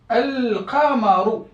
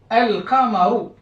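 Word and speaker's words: القمر: Si j'introduis le déterminant, donc si je le passe en mode déterminé, défini, donc elle, je place le mot Al-Qamaru. Al-Qamaru.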